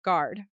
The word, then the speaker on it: guard: Even though there is a u in there, it is silent. We do not say guard. It is just guard like hard with a g.